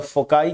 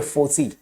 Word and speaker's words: foci: तो coordinates of जो फोकस है ना उसका प्लूरल जो होता है वो क्या होता है, फोसी या फोकाई। जो अलग अलग लोग अलग अलग प्रोनाउंसिएशन करते हैं।